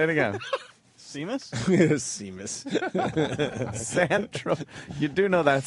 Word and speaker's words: Seamus: Seamus? Seamus. You do know that's San Tropez. I do now. That's typically pronounced Seamus, right? Trav dog. You roll. There's no H in there.